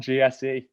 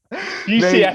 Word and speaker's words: GCSE: That's the reason why I literally got like one GSE. GCSE. Yeah. I didn't even say it properly. That's how little of them I have. I called it a GSE.